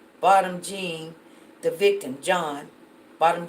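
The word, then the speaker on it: Jean: bottom gene the victim John bottom gene you know we pronounced that gene but I guess it's John he's the complaining witness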